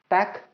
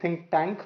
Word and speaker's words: ThinkTac: all can connect to tack which is spelled as TSC quite often people make it think tank but it's Tac standing for tactile tactile means